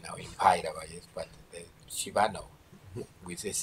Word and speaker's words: Shiva: in Pairava, but the Shiva no, with this H no. Most elfejthetnek majd hát a Parabhairavából. It's Shiva, not Shiva. Shiva. Shiva. Accent on the last vowel, not Shiva.